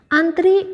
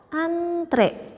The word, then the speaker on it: antre: Yang betulnya adalah antre. Itu bahasa bakunya. Jadi bukan hey antri dong, bukan antri, tapi antre, dan dibacanya juga antre.